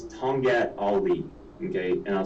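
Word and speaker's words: tongkat ali: of people could benefit from it and it's tongat ali okay and i'll spell it it's t-o-n-g k-a-t-a-l-i it's two words tonga ali now this herb um it's it's quoted in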